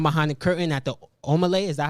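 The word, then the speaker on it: Omah Lay: The viral video of the shorty who was getting down behind the curtain at the Omelay, is that how you say it?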